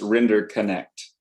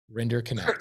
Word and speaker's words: Rinderknecht: It's Render Connect. No I connect way. the dots. Render Connect.